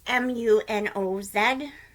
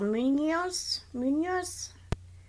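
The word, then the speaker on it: Muñoz: It's Munoz. With a little squiggly, so Munoz. I know the N with a little squiggly on top is Nya, because I took Spanish.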